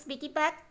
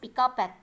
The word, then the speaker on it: piggyback: Piggyback means, do you know what is piggyback?